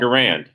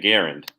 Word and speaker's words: Garand: garand there you go when i talk about the rifle i call it garand but he pronounced his name garend so there is that